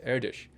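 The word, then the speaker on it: Erdős: spelled er D OS and his name is pronounced air dish very famous Hungarian mathematician and he was one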